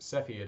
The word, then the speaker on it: Cepheid: So you can find some videos, two on the parallax method, one on Cepheid variable stars, which can also be pronounced Cepheid apparently. I looked it up, that is the correct pronunciation, that's the one used in the video, as well as redshift.